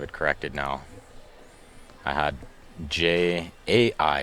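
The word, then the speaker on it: Jia: I had J-A-I. It's J-I-A. I was close. How do you pronounce it the same way?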